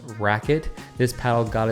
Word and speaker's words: RQT: paddle is literally called the rqt which is pronounced racket this paddle got its name rightfully so with